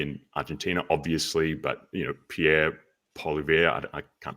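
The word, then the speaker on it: Poilievre: whether it's like Milei in Argentina, obviously, but Pierre Polivier, I can't pronounce his last name, but Ben, you'd know much more about Pretty good, actually. Pierre in Canada. One of the best pronunciations I've heard. Polyev.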